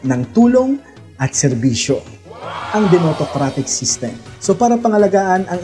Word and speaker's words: DemosAutocrat: kaya nabuo ang salitang demotocrat. Wow! So ganyan po talaga ang spelling niyan. Meron po talagang S yan pero silent S. Kaya ang pronunciation po niyan ay demotocrat or demotocracy.